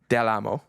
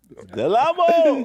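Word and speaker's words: Del Amo: Do I pronounce the L or not? Yes. Okay. Delamo. Delamo.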